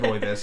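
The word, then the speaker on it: rooibos: red Rus rois that's how you say red rois it's r o o i b o s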